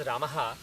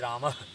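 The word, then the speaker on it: रामः: Visarga literally means letting go. It basically means whatever air is there in the lungs, you basically release it gently. So, the correct pronunciation is Rama. Rama. It's kind of like Rama but not explicit. It's basically a subtle pronunciation of So it is Rama.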